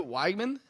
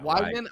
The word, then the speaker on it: Weigman: Weigman. Yeah. Weigman.